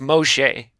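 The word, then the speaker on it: משה: which in Hebrew is just m o e pronounced Moshe so the main character of The Bible shares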